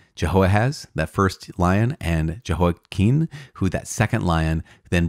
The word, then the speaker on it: Jehoiakim: Now, there was Jehoiakim with an M at the end, and Jehoiakim with an N at the end. I've also heard his name pronounced Jehoiachin with a kind of soft ch, Jehoiachin. But Jehoiakim is how I committed to saying it when we were reading 2 Kings and 2 Chronicles. So let's continue on with this maybe potential mispronunciation. King Jehoiakim of Judah, he reigned after Jehoahaz, right?